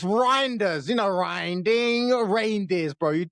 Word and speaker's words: Reijnders: You told me the guy's name's Reindeer, so okay. I'll be respectful. That was off screen, innit? At least say it properly on screen. All right, fine. Reindeers. We'll go My with bad. reindeers. I'll take it back. Reindeers. Carry on. Okay. I mean, Reijnders.